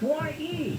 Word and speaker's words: Ye: Kanye West has now legally changed his name to Ye. It's Ye. But it's Y-E. It's Kanye minus the con. Y-E. How's that pronounced? Well, in this particular instance, it is pronounced Ye.